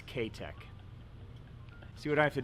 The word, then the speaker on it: K-Tech: So if you live in the United States, it's Kitech. But if you live in Japan and want to pronounce it correctly, it's K-Tech.